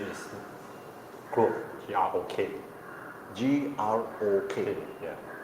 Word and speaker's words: Grok: Yes, that one the name is Grok, G-R-O-K. G-R-O-K. Yeah. Group I think it's pronounced Grok. Group or Grok. Grok.